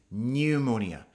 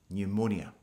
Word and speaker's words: pneumonia: By the way, the pronunciation is pneumonia. You don't say the P. pneumonia Fourthly, I'd like to suggest the verb faint.